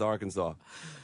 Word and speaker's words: Arkansas: And it is pronounced Arkansas.